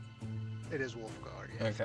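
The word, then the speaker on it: Wulfgar: My name's uh uh uh um But is is the way we pronounce him is it Wolfgar? It is Wolfgar.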